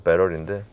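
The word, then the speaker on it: battery: 배터리, 영어 발음은 배럴인데 이거 했다간 욕 먹습니다. 배터리라고. 어찌됐든 그 KGM 차량도 상당히 좋아요.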